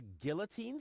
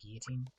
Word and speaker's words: guillotine: A guillotine. So I won't enter her room. Whoa. That girl has issues. I honestly wonder why we were ever together at all. It's actually pronounced guillotine.